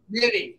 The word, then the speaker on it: Mitte: one of my favorites from Breaking Bad, RJ Mitte. Am I saying his last name right? RJ Mitte. Mitte. Okay, I've been mispronouncing it for all these years.